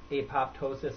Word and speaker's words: apoptosis: that um the nitrous nitrous oxide and uh apoptosis or perhaps I'm pronouncing that wrong how do you pronounce it